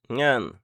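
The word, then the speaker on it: เงิน: La consonne initiale est le N, la voyelle est le E court, et la consonne finale est le N, donc Ngan.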